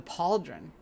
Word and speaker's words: pauldron: I did I got the paldron or the pauldron because that's how you pronounce that oh bonus strength oh